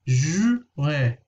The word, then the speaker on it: juin: of an issue, but just pronounce the word in two parts. So divide it into two. Ju, you know that the U has a special sound, and IN has another special sound. Un. So juin, juin.